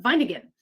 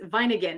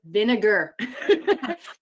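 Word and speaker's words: Wieninger: Fritz vine and garden vine again yeah fritz vine again and I remember he told me listen whatever you do don't pronounce my name vinegar and he getting great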